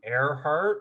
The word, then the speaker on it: Earhart: thought that her name airheart is kind of a good name for her because it's like her heart is in the sky in the air it's spelled like earhart but it's pronounced air heart so okay let's let's